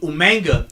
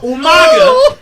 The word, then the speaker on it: Umaga: I'm saying it like William Regal, but Umanga.